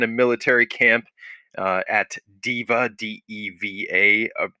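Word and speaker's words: Deva: military camp uh at diva d-e-v-a uh otherwise pronounced of course in latin day uh so we're gonna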